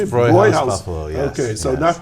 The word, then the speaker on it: Hofbräuhaus: Hofbrauhaus, Buffalo, yes.